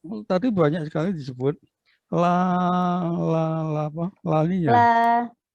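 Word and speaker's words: La Niña: Kalau L tadi banyak sekali disebut laninya. Lanina Bapak. Lanina. Itu kalau yang benar bacanya itu dikasih Y. Laninya.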